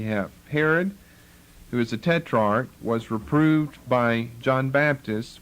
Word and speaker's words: tetrarch: now Herod the Tetrarch, some people call it a tetrarch, that's the way it's drawn out for us in the KJV, long E, a tetrarch. I think tetrarch's a better pronunciation.